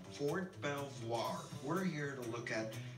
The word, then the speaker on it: Fort Belvoir: Fort Belvoir for 12 soir I missed the pronunciation Fort Belvoir we're here to look at a history of